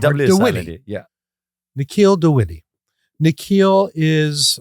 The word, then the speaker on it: Dwivedi: How's the correct way to say your name? It's Dewitty. You know, it's really hard to get. Say it again. Dewitty. Well, that's not hard. Dewitty.